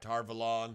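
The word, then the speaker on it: Tar Valon: is in tar our volun and you're right tarvalon right show pronunciation sir show pronunciations um and um so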